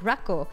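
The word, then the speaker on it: ラッコ: chat for you yeah it's pronounced like rco and I thought that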